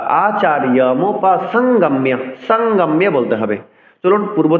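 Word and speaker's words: আচার্যমুপসঙ্গম্য: অনুসারের পরের ব্যঞ্জনটি যদি বর্গীয় বর্ণ হয় অর্থাৎ ক থেকে ম পর্যন্ত বর্ণ হয় তবে যেই বর্গের বর্ণটি বসবে সেই বর্গের নাসিক্য উচ্চারণ করতে হবে।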